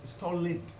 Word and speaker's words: stolid: No, it is stolid.